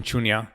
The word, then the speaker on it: Shunya: you started the mission shunya podcast recently did i pronounce that right yes mission chunya so shunya is a